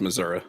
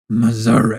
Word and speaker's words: Missouri: It's pronounced Missouri. Missouri. Is that a reference to American Dad? Salt Lake City, Missouri. No, it's just how people say Missouri that are from Missouri.